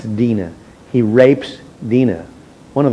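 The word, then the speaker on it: Dinah: This son Sheckchham is the one who in Genesis 34 rapes Jacob's daughter Dena or you might call her Dina, but it's Dena.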